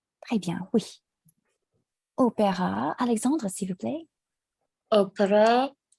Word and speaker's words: opéra: With an accent, it is pronounced opéra, but the letter itself, so you know the differentiation, it is pronounced as E.